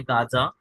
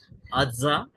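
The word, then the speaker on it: Gaza: जैसे कि आपको दो शब्द बताता हूँ, जैसे कि है गाजा और दूसरा है गमोरा। ये दो शब्द आपने सुने होंगे, जिसका एक्चुअल जो क्या बोलते हैं, बोली या फिर प्रोनाउंसिएशन, उसके एक्चुअल जो है वो है अज्जा और अमोरा। तो वो अ से होता है, तो वहां पर वो भी हमें दिखता है।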